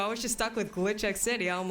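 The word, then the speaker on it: Glitchx City: of No it's it's glitch X City the x is NOT capitalized unless the entire name is capitalized I was having you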